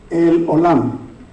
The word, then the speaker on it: El Olam: Hay otra posible, el Olam. ¿Oyeron la E, la O y la A? El Olam, Dios eterno.